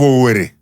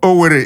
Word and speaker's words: Owerri: What is the corruption of Owerri? Or Onisha? What is the corruption? Not be so Igbo right am. Igbo Owerri, if you say Owerri, O-W-E-R-E.